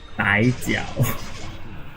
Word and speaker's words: Bai Jiao: Okay, just to his correct his name's pronunciation is actually Bai Jiao.